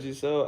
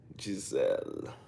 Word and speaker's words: Giselle: Oh, you know what, Giselle? I need to start saying your name like Giselle, right? You told me it's French, so it's not actually pronounced Giselle.